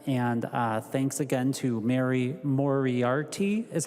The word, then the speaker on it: Moriarty: And thanks again to Mary Moriarty, is how you pronounce her name, for her work on this.